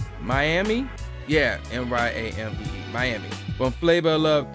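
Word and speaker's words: Myamee: And cameo appearances were made by Rabbit from Real Chance to Love and, how you pronounce this name? Miami? Yeah, M-Y-A-M-E-E, Miami.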